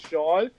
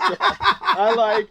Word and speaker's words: Hsiang: get confused, because they look at my name and they're like, really, that's just pronounced Sean? Yeah. I literally had a lady ask me, are you sure that's pronounced Sean?